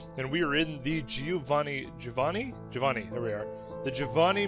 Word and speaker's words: Giovanni: it's it's it's pronounced Giovanni so since then I've always pronounced that name Giovanni but obviously that is Italian and apparently it is pronounced Giovanni which actually makes a